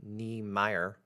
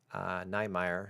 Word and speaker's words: Niemeier: Apparently it's NIEMEIER. NIEMEIER.